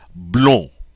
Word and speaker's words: blond: So, the masculine singular form is just simply going to be blown.